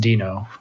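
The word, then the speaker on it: Deno: but first of all it might be pronounced dino um it's a uh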